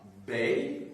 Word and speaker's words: bey: Vous aviez à Tunis un bey, B-E-Y, et vous aviez à Alger un dey, D-E-Y, un D, un B, un D. C'est pour être audible que j'ai les prononcé en distinguant donc les voyelles.